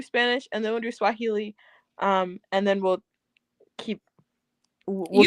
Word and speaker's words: Swahili: We'll see what you know how to count in Swahilian. I do. And wait, is that how you say it? Swahilian. Swahili. Kiswahili is how you say it in Swahili.